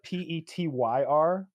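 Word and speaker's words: Petr: I'm terrible at pronouncing his name because it's like Peter or some nonsense. But it's like Petyr. Yeah, it's just Peter.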